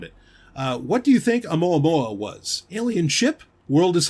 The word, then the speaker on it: Oumuamua: I think it's Oumuamua. It's a Hawaiian word. I know that. Because that's it was one of the observatories in Hawaii that found it. What do you think Oumuamua was?